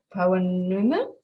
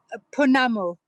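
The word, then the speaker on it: pounamu: You might have to help me with the pronunciation. Poanuma? Punamu.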